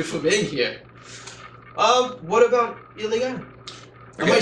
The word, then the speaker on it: Ilegal: What about Ilegal? Am I saying it right first? You are. If you were to say it in Spanish with a double L, it would be Ilegal, which doesn't quite make sense.